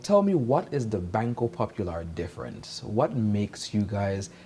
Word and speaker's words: Banco Popular: of the year at bangkok popular thank you very much did i pronounce that correctly banko popular banco popular wonderful we are known as popular popular yes yes i'm